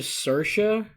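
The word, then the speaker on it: Saoirse: now but even though i finally learned how to pronounce it because it's s-a-o-i-i three vowels in a row s-a-o-i-r-s-e and i know there's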